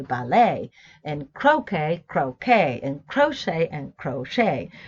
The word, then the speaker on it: ballet: That's why in English we say, in British English we say ballet, and Americans say ballet, and croquet, croquet, and crochet, right?